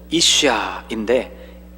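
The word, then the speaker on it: אשה: 여자는 이쉬아인데 이쉬 뒤에 아가 더 붙어 있는 형태입니다.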